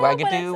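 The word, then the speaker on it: Wagadou: Yeah, Wagadoo, Wagadon't. Wagadoo. It sounds like Xanadu. It's not pronounced the way it's spelled, though.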